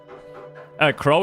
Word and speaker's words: crow: Crow is pronounced like crowbar.